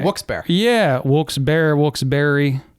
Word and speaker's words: Wilkes-Barre: Beaver Meadows, kind of like Wilkes-barre. Yeah, Wilkes-barre, Wilkes-barre. I heard Wilkes-barre is actually the correct way to say it. It is. Is it? Wilkes-barre. And the E used to have an accent over it.